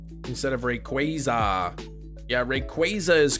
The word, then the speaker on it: Rayquaza: really need uh third for anything you say Rayquaza instead of Rayquaza yeah Rayquaza is correct a lot of people say Rayquaza